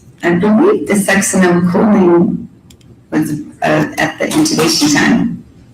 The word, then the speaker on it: Succinylcholine: And so if the, butcher the pronunciation, you pronounce it. Succinylcholine.